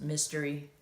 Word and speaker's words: Mystory: Well, my name is pronounced Mystery, but it's spelled my story, so it's Mystory. But once again, it's pronounced Mystery. It's not spelled Mystery.